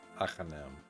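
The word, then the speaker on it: Agahnim: I heard it's pronounced like agony, but aghanim at the end, in the end instead of ni. Achanam.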